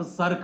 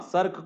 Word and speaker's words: cirque: हाँ हाँ, सर्क को वही CIRQUE, इसी को सर्क कहते हैं, सही लिखा आपने। SARK ना होकर के सर्क वैसे ही होता है जो आपने स्पेलिंग लिखा है, ठीक है।